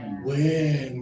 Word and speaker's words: win: Win. Good job, you guys. You figured it out. The single I means lower tongue, extra air.